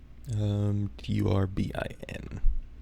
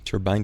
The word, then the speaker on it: turbine: I thought a turbine was like a hat thing, right? Turbine. Turbine versus turbine. American English it's pronounced as turbine, sounding like turban. But in British English, it's pronounced turbine.